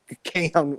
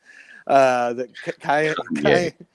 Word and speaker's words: Kanye: And no, I'm not just talking about Elon Musk's bromance with Keon, how do you say his name? Kion West. Kanye.